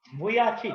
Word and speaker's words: Vujicic: Vujicic.